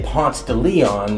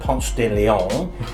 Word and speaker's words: Ponce de Leon: I think it's important to say, in Atlanta we say Ponce de Leon, not Ponce de Leon, and DeKalb is pronounced DeKalb, not DeKalb.